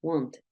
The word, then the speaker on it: wanted: pasado listo tú no tú dices Wanted Wanted suena esa Ed Wanted Wanted esa Ed suena prácticamente Igual muy parecido a español Hay personas que lo simbolizan con una ID puede ser acted added Wanted suena igual básicamente no ten redes que